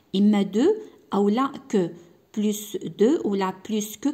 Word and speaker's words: plus: بلوس دو ولا بلوس كو كنطق هاد الاس هادي مارغريت.